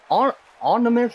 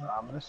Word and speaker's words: ominous: Now, the only thing that really has me worried, though, is this onimus. I can never pronounce that word, Blaze. Onimus? Well, it's ominous.